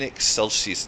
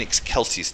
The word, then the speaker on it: Excelsis: It's In Excelsis Deo. So it's a hard K sound in the Latin.